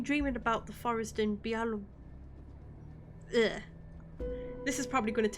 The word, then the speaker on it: Białowieża: of concentration camps and old churches and visiting Białowieża National Park with me instead.